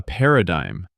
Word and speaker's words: paradigm: A paradigm. P A R A D I G M. The G is silent.